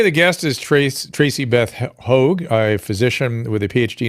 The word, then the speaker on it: Høeg: So it's Høeg, and it means hawk in Danish. Høeg? No G? Just Høeg?